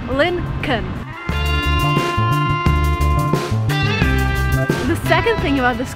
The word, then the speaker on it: Lincoln: Again, pay attention to what I'm saying here. It's not Lincoln, the way it's written. There is an L before N. When you actually pronounce it, you say Lincoln.